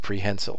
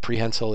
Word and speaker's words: prehensile: And if you've never heard it said out loud, it's pronounced prehensile. Sometimes I hear people say prehensile. I won't correct you, but prehensile is how it's said.